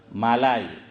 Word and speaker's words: ملائی: میں ہوتی ہے ملائی، ہم ملائی بولتے ہیں حافظ امتیاز، لیکن اردو میں صحیح تلفظ ہے ہاں مالائی۔ حضرت فرماتے تھے کہ